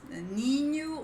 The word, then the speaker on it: ninho: Ninho or ninho. Okay, this both will be correct. We have then nest. And think of onion without the O, like an onion. That's nya, nya, nya. Okay, this is the sound.